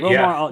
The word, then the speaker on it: Romar: Am I pronouncing that right? Romar, yeah.